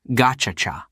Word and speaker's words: Gacaca: It turned to an old tradition called Gacaca, pronounced Gachacha.